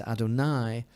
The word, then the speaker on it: Adonai: hey and hey which is not pronounced the way it is written but rather it is pronounced as Adonai which means Master which